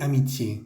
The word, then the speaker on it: amitié: Et amitié, quiere decir y amistad. Esa E al final tiene un acento agudo, la vamos a pronunciar muy bien.